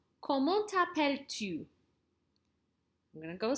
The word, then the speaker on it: comment: Hear how I don't say that T there? Boom, boom. That's kind of silent. But I pronounce the T here.